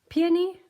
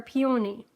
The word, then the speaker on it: peony: this word stumps me i've heard it two ways i've even asked at the um the nursery the garden shop how do you say it peony or peony but however you say it because they told me you could say it either way so i love this